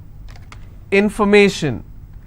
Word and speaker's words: information: If I have more number of syllables, information, first I will break it, information. So where do I stress? I will stress on may.